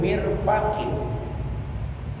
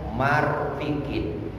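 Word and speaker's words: مرفق: Mirfaqin bikasril mim wa fathil fa. Satu siku. Absahu minal aksi, membacanya itu lebih fasihah dibaca apa? Mirfaqin daripada kebalikannya marfikin. Jadi mirfaqoni itu adalah isim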